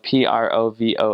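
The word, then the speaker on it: Provost: a French word and it was originally spelled p r o v o s t and uh but it's pronounced Provo and uh so in Quebec or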